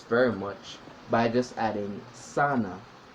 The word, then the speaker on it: sana: Not sana like what you chilling. Well, not chilling, but what you go into, just sweating. You know, not the skin works. Different type of sana. It's spelled as it said, sana, S-A-N-A.